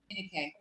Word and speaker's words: Adenike: How do you say it? Adenike. Say it one more time. Adenike. Adenike. Awesome. Okay, so that's much. good to know.